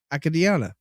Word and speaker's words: Acadiana: children to be honest Acadiana Acadiana Acadiana Acadiana oh that makes sense a-c-a-d-i so you got one consonant name between the two vowels so that makes the a long Acadiana yeah yeah way